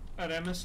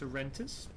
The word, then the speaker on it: Arentis: Although it's fine if Aramis looks at it. That's alright. Okay, fine. I'll say it correctly. It's Arentis. If anyone who just joined wants to say his name, it's Arentis.